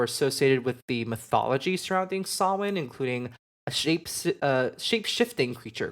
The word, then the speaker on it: Samhain: I almost said Samhain, but it's not Samhain, it's Samhain.